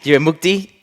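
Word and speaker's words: Jivamukti: She is a advanced certified Jiva Mukti. Did I get that right? Jiva Mukti. Jiva Mukti. Perfect. Thank you. Yeah. Feel free to help me with the pronunciations here.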